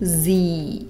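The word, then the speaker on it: sie: Opäť si musíme dať pozor na výslovnosť. 1S sa v nemčine takmer vždy vyslovuje ako slovenské z a kombinácia I sa v nemčine vždy vyslovuje ako dlhé i. E je tu nemou hláskou, teda sa nevyslovuje, ale slúži ako dĺžeň pre i. Ona sa teda po nemecky povie z.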